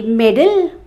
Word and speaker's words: meddle: medal and m e d d l e middle is when you interfere in matters those are